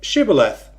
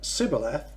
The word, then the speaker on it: Shibboleth: If he said, "No," then they said to him, "Say Shibboleth." If he said Sibboleth and could not pronounce the word correctly, they grabbed him and executed him right there at the fords of the Jordan.